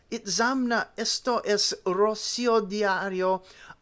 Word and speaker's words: Itzamna: This does not explain the last syllable na, which is always strongly accented. It is said that Itzamna spoke of himself only